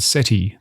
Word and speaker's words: SETI: Or take the word SETI, the search for extraterrestrial intelligence. The final vowel is short and unstressed.